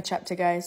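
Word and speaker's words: Cheptegei: out the key element also it's pronounced Rebecca chapter guys sorry we as a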